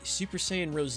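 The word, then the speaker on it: Super Saiyan Rosé: II know they were they actually the pronunciation they went with an English version because if you play fighter Z Vegeta will actually say Super Saiyan Rose AAA how unbelievably naive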